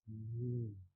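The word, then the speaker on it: ن: Next letter is Noon. Noon. So letter Noon is pronounced by joining two lips. This joining will not be like letter Da with a stress. It will be without stress. Noon.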